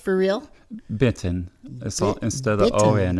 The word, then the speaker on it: Benton City: How is it pronounced for real? Benton.